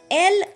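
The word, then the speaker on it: elles: L again ends in S. S will not be pronounced. So, E-L-L-E-S will be pronounced as L.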